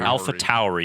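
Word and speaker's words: AlphaTauri: from what I understand the connect the correct pronunciation is alpha Tory Tory Tory Tom alpha Towery and I believe it's because of the you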